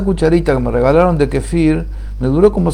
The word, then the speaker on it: kefir: supermercados Gondolas Centeras con Kefir, con distintos gustos, distintas cosas, de distintas formas. Acá poca gente lo conoce, se escribe con K, kefir, así como se oye, Kefir.